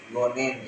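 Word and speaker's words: 五年: Kemudian ditambahkan nen atau penulisan kanjinya bisa dilihat di sebelah kiri dan cara bacanya yakni gonen yang artinya 5 tahun.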